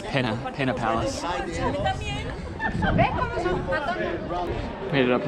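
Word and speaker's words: Pena: And oh, I forgot to tell you there is no tilda. Well, maybe there is a tild, but it's pronounced penna pa palace.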